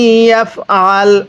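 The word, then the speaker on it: يفعل: ওয়া মাই ইয়াফআল, আইনটা চাপ দিয়ে পড়লে আইনটা সহি শুদ্ধ উচ্চারণ হবে।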